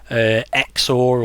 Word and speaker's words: XOR: raven skull bone cruncher xor or zor it might have been pronounced as all those sort